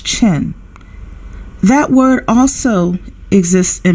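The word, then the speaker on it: Qin: spoke briefly about the King Dynasty some people may correct me and say that it is pronounced as chin that word also exists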